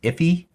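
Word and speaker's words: IIFE: as in IIF e sometimes I think it's pronounced if e alright so keep in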